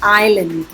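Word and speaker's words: island: H silent है, इसमें S silent है, इसको बोलते हैं आइलैंड.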